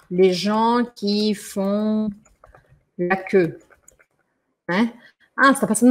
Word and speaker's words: queue: E aqui essa palavra queue se escreve com tudo isso de letra, mas você vai pronunciar só queue, queue, queue, bom?